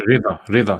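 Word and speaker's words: رضا: fawza bi razi, and Rida. So you pronounce it as rida.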